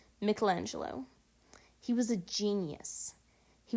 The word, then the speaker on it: Michelangelo: You may remember people calling him Michelangelo, but I believe the correct pronunciation is Michelangelo.